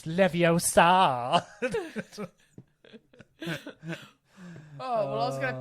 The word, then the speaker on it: Leviosa: You gotta really draw out the ah. Oh, Wingardium Leviosa. It's not Leviosa. It's Leviosa.